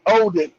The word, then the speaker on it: Odin: Not Yeah, wooden. Yeah, the pronunciation, where Spike said wooden, no, it's Odin.